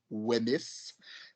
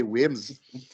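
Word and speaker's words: Wemyss: Donc, pour utiliser la prononciation française, Wemys, mais c'est prononcé Wims.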